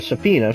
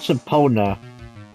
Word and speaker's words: subpoena: Yeah, it's not subpoena. It's subpoena. Hey, don't look at me, I don't know. I just know how it's pronounced.